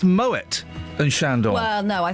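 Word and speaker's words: Moët: It's pronounced moet and shandor.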